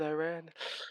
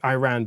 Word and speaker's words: Iran: it pretty tough against Iran. Yes. Why are you calling them that? It's quite clearly Iran. Yes. Yeah Yes, it is Iran, not Iran. Iran. I know you Americans say Iran, but it's Iran.